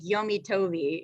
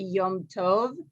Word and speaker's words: Yom Tov: like that and it wouldn't be like yomitovi it wouldn't be that either yeah so yeah i'll have to ask i don't really know how you'd technically do it but you wouldn't say it like that you'd say like yeah my holiday um because actually means holiday like yum is actually yom tov yeah so my good